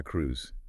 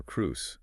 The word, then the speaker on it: Cruz: In Spanish, it's San Juan de la Cruz. Yes. And we've got that wonderful rolling R to practice. We do. So Juan becomes Juan. Juan. Yes. And for Cruz, you can say Cru or Cruz.